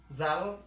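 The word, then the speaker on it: ذال: তাহলে জাল, জালের উচ্চারণ কিরকম করে? সেম একই রকম করে জাল, জিহ্বাটা একটু বের করে দিয়ে উপরের মাঝের অংশ বা ঠোঁটের উপরেরটা উপরে উঠে দিবেন। তাহলে জাল, জাল, জাল।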